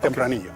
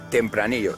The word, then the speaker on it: Tempranillo: It's Tempranillo. Tempranillo.